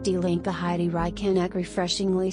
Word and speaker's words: Die Linke: In Germany, the left-wing TikTok queen and member of parliament, member of the Bundestag for the left-wing party Die Linke, pronounced Die Linke, Heidi Reichenach, refreshingly says it is in our German DNA to be anti-fascist.